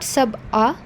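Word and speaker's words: سَبْعَ: The third word is sab'a. It is not sab'a. Sab'a samawatin is wrong. Sab'a, because ayn is present over there.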